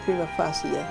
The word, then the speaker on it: prima facie: Virgos each had an obligation to ensure that bankruptcy petitions which did not make a prima facie, the correct pronunciation is prima facie, showing that jurisdiction did lie in the United